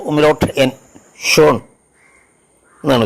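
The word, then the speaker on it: schön: cheese എന്നുള്ളതിനെ എസ് സി എച്ച് ഓ ഉമ്മലോട്ട് N Sean എന്നാണ് ഉച്ചാരണം ബ്യൂട്ടിഫുൾ മനോഹരം എന്നുള്ള അർത്ഥത്തിൽ അതുപോലെ യു ഉമലോട്ടിനെ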